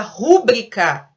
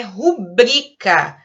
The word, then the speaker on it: rubrica: A palavra rúbrica, ela não existe em hipótese alguma. tá? Ela não tem acento. A palavra certa é rubrica, paroxítona e sem acento.